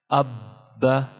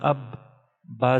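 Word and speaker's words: أَبَّ: Hamza Ba Zabar Ab. Ba Zabar Ba. Abba. Abba. So we are pronouncing Ba two times due to Tashdeed, and we are pronouncing Ba strongly due to Tashdeed or Shad symbol.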